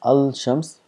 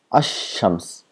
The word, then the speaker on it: ash-shams: al to shams, so we don't pronounce as al shams, we make this lam silent and we give shadda to the word next to it, then becomes ash-shams, as though the lam does not exist.